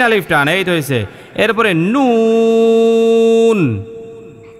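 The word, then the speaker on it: نون: এইতো হইছে এরপরে নুন নুন নুনের মধ্যেও তিন আলি পরিমাণ টান দিবেন নুনে কি করবেন হ্যাঁ মূলত এটা ছিল নুন নুন নুন নুন তো যদি এখানে নুনের মধ্যে ওয়াকফ করেন তখন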